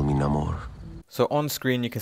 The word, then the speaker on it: Namor: It's originally pronounced Namor, but in this teaser clip we've been given, he even says his own name is Namor.